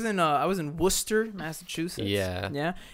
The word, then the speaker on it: Worcester: actually i was in uh i was in worcester massachusetts yeah yeah it's pronounced worcester but it has like eight extra letters for no reason it's worcester yeah you know uh i kind of feel